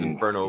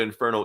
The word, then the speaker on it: Inferno: know what inferno is inferno you've got to roll your r's dude in there no i